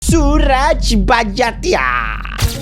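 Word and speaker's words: Suraj Barjatya: Suraj Barjatia.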